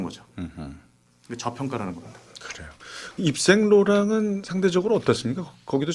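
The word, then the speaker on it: Yves Saint Laurent: 그거를 제대로 프랑스식으로 원발음으로. 발음하면 입생 로랑.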